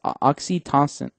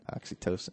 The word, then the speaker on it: oxytocin: that in course releases oxytoxin I don't know how you pronounce it oxy tox toxin oxytocin yeah toin there you go a hormone active in